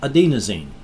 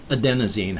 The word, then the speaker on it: adenosine: your body immediately starts producing a chemical called adenosine adenosine however it's pronounced a-d-e-n-o-s-i-n-e this substance as it increases in